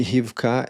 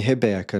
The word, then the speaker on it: Rivka: E a pronúncia mais próxima do nosso idioma escrito seria Rivkarc e não Rebeca.